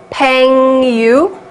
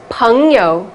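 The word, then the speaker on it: péngyou: Peng Yu? No, definitely not. ENG is ung, like in uncle. So ung, peng, and yo is like in yoho, that yo. So it's peng yo, not peng yu, right?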